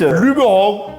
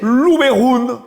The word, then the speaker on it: Luberon: Soit vous décidez de parler français et vous nous dites Luberon. ou vous décidez de parler provençal et alors là, vous prononcez Louberoun.